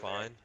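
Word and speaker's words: Fyne: And how do you pronounce that? Copy. Dispatch 197. Fine.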